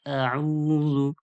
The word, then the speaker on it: أعوذ: أعوذ بالله من الشيطان الرجيم কেটে, কেটে আমি বলতেছি যেভাবে উচ্চারণ করবেন। আউযু আ হামজা যাবার আ যে পড়েছি উ আইন পেশ উ যে পড়েছি আইন ও পেশ উ একটু টানুন।